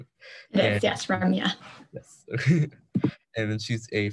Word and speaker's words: Ramya: have today ramya i'm not sure if i'm pronouncing her name right yes ramya yes and then she's a first-year medical student